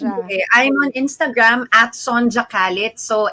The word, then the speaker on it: Sonjia: our beautiful guests okay i'm on instagram at sonja khalid so s o n j i a